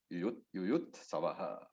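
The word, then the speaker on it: युयुत्सवः: So that Visarga takes the pronunciation of the alphabet just before the Visarga. So if the Visarga was not there, it would have been Yuyutsava. So and therefore Savaha. Yuyutsavaha. That is the pronunciation of the Visarga.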